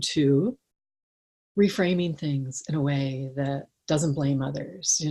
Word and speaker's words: Wei: that Lisa teaches at way wisdom calm and the way is spelled like in Lotus way w e I so way of chocolate